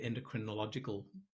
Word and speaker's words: endocrinological: I hope I said endocrinological the right way. Oh, you did. The emphasis on the right syllable.